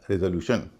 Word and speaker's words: resolution: अब हम ऐसे शब्द देखते हैं जिसमें TION या SION से पहले 3 वावल हैं और आप देखेंगे इन सब में उच्चारण हो रहा रे, RESOLUTION। इसमें TION से पहले 3 वावल हैं, ई, ओ और यू, और इसमें आदि का उच्चारण रे हो रहा है, इसलिए इसको बोला जा रहा है रेजोल्यूशन।